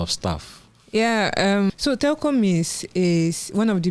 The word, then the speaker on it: Telkom: off a lot of stuff yeah um so Telcom is is one of the Bigg yes telecommunication